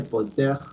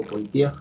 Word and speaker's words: Poitiers: detiene a los musulmanes en la batalla de Poitiers, o Poitiers, como quieras pronunciarlo, es francés de hecho, en el año